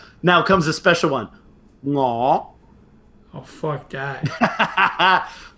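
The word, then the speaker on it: Ngoh: Ngo. Oh fuck that. Ngo.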